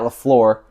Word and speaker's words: LaFleur: If they continue to do so, they are going to beat the Packers and Matt LaFleur. Okay? Yeah, that's the right way to pronounce it.